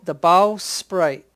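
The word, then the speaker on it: bowsprit: but Rusty told me this is called the bow sprite.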